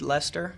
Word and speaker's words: Leicester: Leicester. Leicester. Like a creepy dude, Lester?